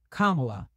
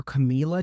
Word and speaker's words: Kamala: It's Kamala, like Kamala. Kamala. The number of ways people have butchered her name. I heard someone call her Camila today.